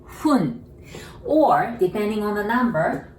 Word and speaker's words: 分: Not fun, 分, just like blowing the candle, 分.